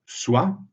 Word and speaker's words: soit: On ne prononce pas le T dans le verbe soit, mais on le prononce dans l'expression soit, soit.